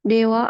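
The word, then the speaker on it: では: atau bahasa tertulis digunakan Dewa arimasen ini contoh Pak Apa itu engak kelihatan Santos Santos susanwa ka Santo susanwa gakuse Cak arimasen Dewa arimasen Oh perhatikan wa dari dewa diucapkan wa Oh iya D kan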